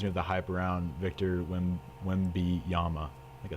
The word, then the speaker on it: Wembanyama: Kaylin Clark reminds me of the hype around Victor Wembanyama.